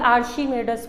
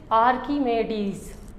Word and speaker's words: Archimedes: इसको हम कॉमनली आर्शीमेडस पढ़ते हैं, लेकिन ये आर्शीमेडस है नहीं, इट इज़ आर्कीमेडीज़। आर्कीमेडीज़, ठीक है, आर्कीमेडीज़, इस तरह इसको प्रोनाउंस किया जाता है।